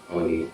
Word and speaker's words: Báwo ni: Bawoni, yes.